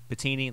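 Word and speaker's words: Pettine: Nielsen Sean Desai Mike patine patini that's how you say it uh and Brian Flores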